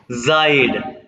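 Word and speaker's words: seid: जाइड friend, देखो जाइड एस के आगे जब भी एक वॉवल आ जाएगा तो ये एस जेड की आवाज निकालेगा, और ई आई आई,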